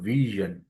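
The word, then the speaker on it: vision: বাট এটা কিন্তু ভিশন, টেলিভিশন বলি, ভীষণ বলি, ভীষণ না বলে ভিশন, ভিশন টেলিভিশন, টেলিভিশন।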